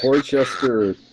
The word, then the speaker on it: Worcester: Well, Worcester. Worcester. Worcester. Oh, is it Worcester? Worcester Warriors. Why don't they pronounce one W-O-O-S-T-E-R? Here it is. W-O-R-C-E-S-T-E-R is pronounced Worcester.